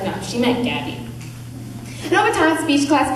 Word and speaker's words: Gabi: to speech class I didn't know how to pronounce my G's and my name had to be Gabby so people ask my name I went Abby and they'd be like